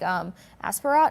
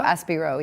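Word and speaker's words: Aspirot: Or like Asperat? Yeah, I think the T is silent because he's French. Aspiro? So Aspiro, yes.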